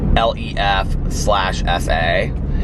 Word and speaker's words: lefse: And then I got this thing called the lefse, and it's, I think it's like a Greek, I know I'm pronouncing it right because in the menu it says like it pronounced LEF/SA, and it's like these